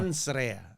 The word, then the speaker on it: Mens Rea: Pronounce it one more time. Mens Rea.